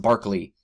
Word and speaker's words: Berkeley: And we get names like George Berkeley. I've also heard it sometimes pronounced Barclay.